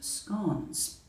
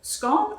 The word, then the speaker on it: scone: of the tea table scone or scone well either one is right there is no correct pronunciation it all depends on where you come from i know that 99